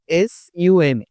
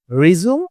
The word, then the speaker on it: resume: RESUME, resume or resume. Which pronunciation is correct? Today we are going to learn this. Okay, resume ও সঠিক, resume এটাও সঠিক। কিন্তু আমরা কোনটা কোথায় বলবো আজকে আমরা সেটাই শিখব।